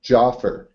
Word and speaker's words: Jafar: to say um uh am I pronouncing right Jaffer you know yeah that's close enough I'm used to every possible pronunciation you can't offend me okay but I want to say it right is it Jaffer Jaffer uh joffer joffer joffer okay joffer so um recently I watched